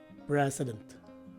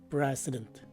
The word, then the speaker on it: precedent: However, some native English speakers drop the last letter E, as indicated by the open-close parentheses. So the right way to say this word is precedent. Again, precedent.